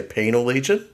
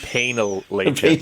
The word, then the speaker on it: Penal Legion: Did you say penalent? This is not a Slenesh episode. Penal Legion.